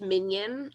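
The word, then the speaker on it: minyan: word in hebrew called mignon um in english it's often pronounced minion like the little yellow guys um and it means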